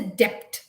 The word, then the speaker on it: debt: we do not say debt okay we just said debt d-e-t debt okay also the word